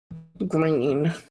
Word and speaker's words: Grene: Green. What was that? Green. Jonah Green. But it's spelled weird, spelled like Grene.